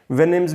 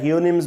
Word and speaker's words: Houyhnhnms: वेनिम्स भी पढ़ा जाता है, हियोनिम्स भी पढ़ा जाता है, बट to make it short we can call it एज हिनम्स।